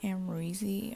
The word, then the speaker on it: Amrezy: um and i believe the name is pronounced amreezy i think that's the person